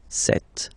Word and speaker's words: cet: So you can notice that phonetically, these two are pronounced the same way.